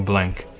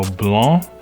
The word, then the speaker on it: Blanc: Hi everyone, my name is Blank. Well, technically it's Blanc, but you know, a lot of people can't pronounce that for some reason.